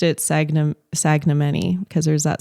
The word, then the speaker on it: Sagnimeni: my last name and at the time he pronounced it sagn sagam manyi cuz there's that silent in there um and